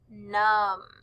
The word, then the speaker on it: numb: the words lamb and num both of these words end with m b so the sound we hear is um lamb numb for number three the